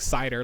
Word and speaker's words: Seidr: way because then it sounds like i'm saying like cider like apple cider so as you can